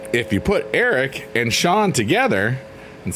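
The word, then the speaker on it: Sean: So, my middle name is Shawn, spelled like the Irish way.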